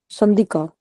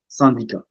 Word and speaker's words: syndicat: Sandika. Okay. Yeah. Okay, we don't pronounce T. You got it right. Because you know it's like we pronounce it like same pronunciation. Sandika.